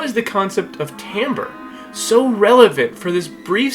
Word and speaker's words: timbre: instrument, we often use the term timbre, which is spelled completely different than the way it's said, but timbre is how we can tell the difference between a trumpet and a bassoon.